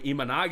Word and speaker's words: Imanaga: but uh my boy imanaga is getting posted on Monday sh I don't know if you saw that it's pronounced imanaga right yeah imanaga sh imaga